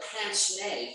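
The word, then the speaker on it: pince-nez: aloof intellectual the professor turned president with the pants nay for glasses and yes that's how it's pronounced wilson was no cold fish wilson was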